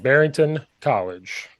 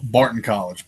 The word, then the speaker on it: Barton College: He is the offensive line coach, run game coordinator at, probably say it wrong, Barrington College. Did I say it right? Or Barrington? I don't even know. Barton College.